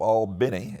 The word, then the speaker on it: Albany: So we arrived in Southwest Georgia after driving all night at the SNCC office, which is located in an area of Albany, as it's pronounced, called Harlem, and which was, in some ways, it was like miniature New York Harlem.